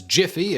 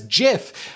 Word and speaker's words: GIF: at daily writing tips words in which the g is followed by an e i or y like giant gem or jim more often than not pronounced with a soft g while all others are pronounced with a hard g according to this rule then gif should be pronounced the same way steve wilheit originally intended as jiff however there are many